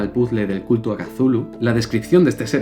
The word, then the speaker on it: Cthulhu: ¿Cómo se dice Chulu? Cthulhu. ¿Cthulhu? Había gente que decía Chulú. Yo era uno de esos.